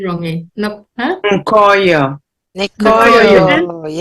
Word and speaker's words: Nkoyo: And Nkoyo. sorry if I Nkoyo. pronounced your name wrongly. Nkoyo. Nikoyo, The N is silent in most of the Nikoyo.